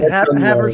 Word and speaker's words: Havertz: a Havertz. That's how you pronounce it.